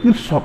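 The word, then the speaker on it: Kirchhoff: তো নীতিটি আমরা কারশফের সূত্র প্রয়োগ করে, কারশফের সূত্রটা কোন কোন বইতে কিরশফ লেখা আছে, যারা কিরশফ বা কারশফ বিদেশি উচ্চারণ এরকম হয়, কিরশফ বললে হবে, KIR আছে।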